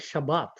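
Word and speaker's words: שבת: The word Sabbath, interestingly, is a word that is found mainly in the Hebrew and the Aramaic, and it's pronounced in the Hebrew as Shabbat.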